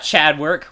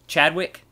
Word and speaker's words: Chadwick: quick okay we got Chad work worm killer and mercenary wait what was his name Chadwick okay there you go you said it wrong the first time Chad rck you said Chad work okay we got Chadwick